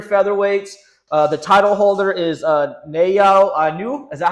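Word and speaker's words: Naoya Inoue: The title holder is Nayo Inu. Is that how you say it? How do you pronounce this gentleman's name? Yeah, now Naya Nue.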